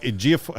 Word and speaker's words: Ejiofor: Sorcerer Supreme, opposite Elizabeth Olsen, Rachel McAdams, Chiwetel Ejiofor. Is that how you say it? Yes. Yeah. Well done. Ejiofor, actually.